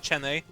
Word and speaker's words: Chene: Also, imagine going to this house with Chene. Also, it's Yeah. like Zen, but like fuck you, I'm Polish. Chene, here it is. I can actually pronounce ch.